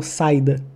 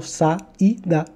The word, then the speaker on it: saída: Eu não falo saída, eu falo saída, o I está sozinho.